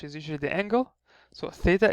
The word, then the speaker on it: Theta: usually the angle so Theta is pronounced as a th uh as a th when you have like as in like just it's just a th and when you say